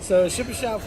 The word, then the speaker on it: Shipachyov: It's actually spelled Ship, SHIPACHYOV. Like Shipachyov. Yeah, that's how I would have sounded it out.